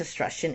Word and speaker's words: Etruscan: So their armies eventually conquered Africa as far as Egypt, and Europe as far as the Etruscan, I always mispronounce this word, I think it's Etruscan, Italy, before being driven back by the Athenian-led alliance.